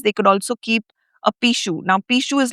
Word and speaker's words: Pixiu: So, um and and the other quality of a Pixiu, it's actually spelled p i x i u. But, it's pronounced Pixiu.